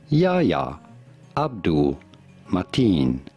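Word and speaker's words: Yahya Abdul-Mateen: How do you go about pronouncing his name? Yahya Abdul Mateen.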